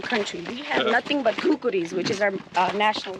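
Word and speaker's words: khukuri: We have nothing but kukuris which is our uh national weapon. Kukuris. Yeah. We don't have Tell me more about the kuris. What is this? Kukuris.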